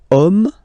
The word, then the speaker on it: homme: And then here, we've got the word homme, man, okay? But then it starts with H, as in French, H is not pronounced, so the first sound that we hear is O, okay?